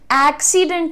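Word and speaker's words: accident: दिया है आपके लिए सिंपल करो साथ में बोलो एक्सीडेंट सब कुछ जेंटल है है ना साथ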